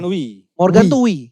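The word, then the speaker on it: Oey: Morgan. Wi. Morgan itu wi. Oi. Oi itu bacanya wi.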